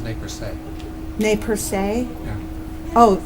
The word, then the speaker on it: Nez Perce: prevent future misunderstanding, it's pronounced ne per se.